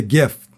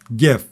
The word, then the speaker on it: gift: And then the last T on gift, we don't pronounce. It's called a stop T. We say gift, gift.